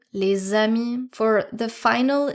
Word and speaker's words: les amis: If there's a liaison with the letter S, you're not going to pronounce it S, but rather Z. Z. You don't hear les amis here, you hear les amis.